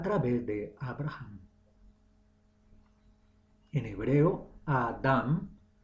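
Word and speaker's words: אדם: En hebreo Adán pronunciado Adam, Aleph, Dalet, Mem.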